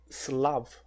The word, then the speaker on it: Slav: Eslavo em inglês se pronuncia Slav, a escrever na lousa, S-L-A-V.